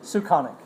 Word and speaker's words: Suchanek: Today we have with us Suchanek. Did I say that right? Correctly? How do you say it? Close enough. Okay. How do you say it? Suchanek.